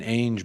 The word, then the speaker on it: Ainge: No I in Ainge, bro. It's pronounced the same way as Angela. Just no Ella.